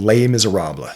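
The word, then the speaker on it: Les Misérables: There is a famous story in a classic book called Lay Miseraba. It's spelled lay less miserables if you want to do it phonetically, but it's lay miser what they call it.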